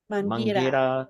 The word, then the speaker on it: Mangueira: Mangueira, yeah.